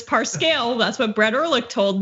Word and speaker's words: Parscale: so the Lincoln project pronounce it as parse cow I thought it was parse scale that's what brett erlich